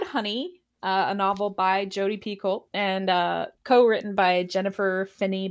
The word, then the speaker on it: Picoult: Jodi Picoult. Is that how it's pronounced? I never knew how she pronounced her last name. Yeah, Picoult. I think it's like Picoult. Yeah, Picoult. But like Picoult.